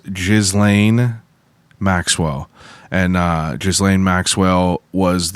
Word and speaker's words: Ghislaine: I thought it was Guilin. No, it's called. I'm almost 99% sure it's pronounced Ghislaine Maxwell.